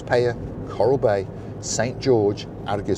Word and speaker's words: Peyia: if you're coming to the payer area which is paaya Coral Bay St George